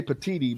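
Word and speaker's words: Petitti: idea have you seen how it's spelled no spell it for me I'll tell you Tony I'm gonna say petiti but p-e-t-i-t-t-i petite okay that's what I would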